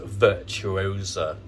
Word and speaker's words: Virtuosa: And don't tell me to not say vtoa. I've had some very angry Brits out there saying to me, Jamie is pronounced virtuoso.